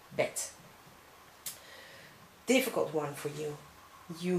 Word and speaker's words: bed: middle, no problem, but at the end of the word, you should pronounce it as T. So we have also in Dutch, as in English, the same word, bed. You say bed, we say bed.